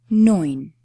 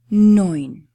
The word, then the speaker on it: neun: Neun. Neun. Guys this diphthong eu combined is producing the sound "oy" always in any word. If you see e and u together, you will pronounce it as "oy".